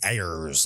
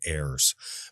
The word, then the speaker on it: Ayers: His name is spelled Ayers. So when you read it, you want to say Ayers like a frickin' pirate instead of heirs.